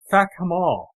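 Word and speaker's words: Fackham Hall: If you pay attention to the pronunciation of the place, it's not like Downtown Abbey. It's Fakamal.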